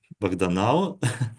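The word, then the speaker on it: Bahdanau: proposed in 2014 in the work of um banov but uh in um English transcription is pronounced ban now so um this guy was a student of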